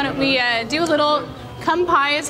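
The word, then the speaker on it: 乾杯: Why don't we do a little kanpai is how you say it.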